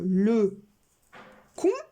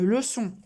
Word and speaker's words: leçon: Est-ce qu'on lit une le con ou une leçon? Une leçon. Si je mets le C tout seul, est-ce que ça fait leçon ou le con? Eh oui, il faut bien mettre la cédille. C et O, sinon ça fait co. Leçon.